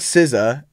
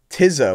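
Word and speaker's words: Tizo: Not Sizza. Tizzo. Wait, why did I say Sizza? Tizzo.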